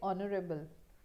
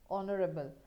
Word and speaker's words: honorable: For example, if I say honorable, so the term which I am using here is honorable, and the sound which is coming here is O, right? O, O, honorable. So I'll use an honorable, but when I say